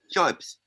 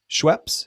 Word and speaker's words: Schoeps: And then you have the Schoeps condenser microphone. Can you see the Schoeps? Yep. We can see them all. And are you saying Shore or what? What is it? Schoeps. Schweppes?